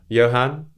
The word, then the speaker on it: Johan: But my actual name is Johan. It's with the J, but it's pronounced with a Y. So it's not Johan. Oh, it's pronounced Johan.